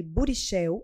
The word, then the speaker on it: Burichel: São elas, a doutora Ana Cláudia Barros, a doutora Burichel, é assim que pronuncia, não é? Sim, acertou.